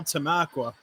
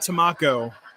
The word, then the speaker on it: Tamaqua: Penobscot, now Tamaqua. Yeah, not Tamaco.